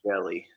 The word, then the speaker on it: Angeli: Angeli.